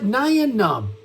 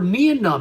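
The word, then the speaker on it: Nien Nunb: We've got that Nyan Num, or Nian Num, however you want to pronounce his name.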